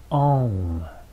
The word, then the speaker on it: Om: Allow the different syllables, the O and the M, to be even as well.